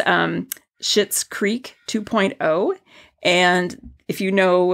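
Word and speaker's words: Schitt's Creek: say but it's um shitz Creek 2.0 and if you know about this show it's a um a Netflix show and it's spelled s c TTS so um uh anyway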